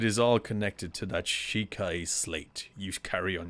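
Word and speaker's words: Sheikah: i'm pronouncing that right is it shikai shayka shiki shika shika inhabited the great power of their wisdom saved this kingdom time and time again shika all right it's not shikai shika okay but their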